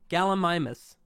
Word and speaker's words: Gallimimus: She needs to say Gallimimus. That is how you say it.